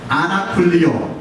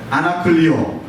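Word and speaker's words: ἀνακυλίω: 한번 발음해 보시겠어요? 첫 번째로 아나쿨리오, 아나쿨리오, 또 아포클리오, 아포클리오.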